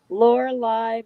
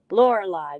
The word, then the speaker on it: Lorelei: to put them up Lorelei that's how I learned to pronounce that of course I'm not British I'm not English either I'm not Australian so American way is saying Lorelei I said it right the Americans win again